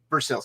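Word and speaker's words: Versailles: kentucky you all know that's pronounced burst sales kentucky now the next piece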